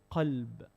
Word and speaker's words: qalb: And if you change the qaf into kaf, you're changing the whole meaning. Kalb is dog. So two different meanings just by mispronouncing the qaf and the kaf, yeah?